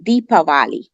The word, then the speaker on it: Deepavali: said the valley yes the actual the Sanskrit word is deepavali okay that's the actual way which means deeper means